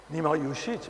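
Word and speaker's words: Nima Yushij: Peut-être vous pouvez mieux le prononcer que moi. Oui. C'est Nima. Nima Yujit, bien sûr.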